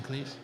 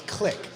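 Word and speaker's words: Klich: Are we butchering Cleese? We are evident, which I have been forever. I think it's click. Click. Like, okay. Yeah, like Click. Clicking a mouse.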